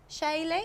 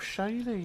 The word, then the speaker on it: Shaye: I believe they rhyme with Kaye. Shaye. Oh, Shaye.